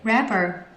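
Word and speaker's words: wrapper: itself and yeah you rapper rapper so you see I have a issue with the w I always want to pronounce it but it's kind of Silence so rapper oh it pronounced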